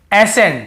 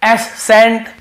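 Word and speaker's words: ascent: पढ़ते हैं जैसे देखिए एसें हम क्या पढ़ रहे हैं एसें यहां पे एस सेंट या एस कैंट ऐसे नहीं पढ़ रहे वैसे तो सी के साथ ई हो तो स उच्चारण निकलता है तो एस सेंट नहीं पढ़ रहे हम केवल एस एंड पढ़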